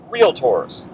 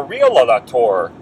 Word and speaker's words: realtor: realtors realtors okay and make sure when you're working with someone who says they're a realtor that they're pronouncing it properly realtor some people may say i'm a real lelator i'm a real later you know so you